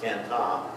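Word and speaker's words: Cần Thơ: Could not get a flight from there directly into the town where Hai lived, the town of Can Tho, where they would pronounce it Can Ta.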